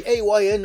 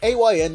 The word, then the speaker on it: AYN: are some questions on how to pronounce a YN whether it's the letters or just a but it's the letters because it's an acronym that stands for all you need you don't have